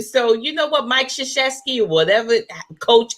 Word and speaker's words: Krzyzewski: It's got way too many syllables and silent letters. A whole bunch of consonants. Mike Krzyzewski.